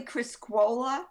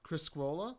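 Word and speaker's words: Criscuola: receipts i see it'll say peter is it criscola or criscoola how would you pronounce that it's actually chris cola criscola okay scroll up that's the the italian pronunciation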